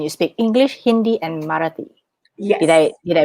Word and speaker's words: Marathi: And you speak English, Hindi, and Marathi. Did Yes. I pronounce it correct?